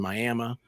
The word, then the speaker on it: Miami: But it's Miami, Oklahoma, but it's pronounced Miami.